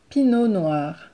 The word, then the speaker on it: Pinot Noir: melot then you have Pinot Noir Pinot Noir Pinot Noir Pinot Noir so we don't pronounce the T Pinot Noir next you have Puma